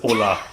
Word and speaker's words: Orlaith: But I think that Orlaith is Ola.